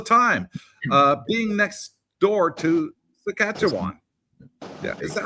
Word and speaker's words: Saskatchewan: Tim P says, we get Yankee transport trucks in Alberta all the time, being next door to Saskatchewan. Yeah, is that how you pronounce it? Saskatchewan. Saskatchewan?